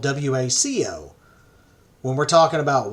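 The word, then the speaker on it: Hueco: And just to be clear, Waco, Texas is spelled W-A-C-O. When we're talking about Waco Tanks, it has more of a hua sound to it.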